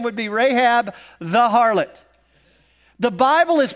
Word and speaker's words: Rahab: Her name, Rahab, is actually pronounced in the Hebrew, Rahab.